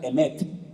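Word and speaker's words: אמת: Se pronuncia emet.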